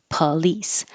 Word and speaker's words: police: sounds like an uh police looks like an O but it sounds like an ah policy politics and I